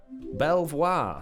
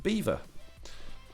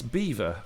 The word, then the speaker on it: Belvoir: Beaver like the animal. That's how it's pronounced.